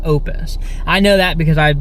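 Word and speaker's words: Oupes: brand is called Opus it looks like it's pronounced oops like oops like o o PS but apparently it's pronounced Opus I know that because I've been watching watching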